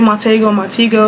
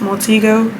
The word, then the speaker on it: Montego: I know it's Montego Bay, but sometimes I'm gonna say Montego, so like that's just a disclaimer. I'll be switching in between, but I think the proper pronunciation is Montego.